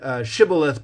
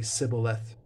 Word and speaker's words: Shibboleth: The people from Ephraim couldn't pronounce the SH sound, or it wasn't part of their dialect. So they said Shibboleth, but they couldn't say the SH. So they would say Sibboleth because of the dialectical difference.